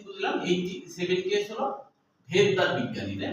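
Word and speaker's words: Svedberg: তাহলে আমরা কি বুঝলাম এই 70 এস হলো ভেদবার বিজ্ঞানী তাই না এই যে এস এস যারা বুঝায় ভেদবার এটাকে অনেকে শবেবার বলে মানে মানে উচ্চারণে আরকি শবেদবার বলে যদিও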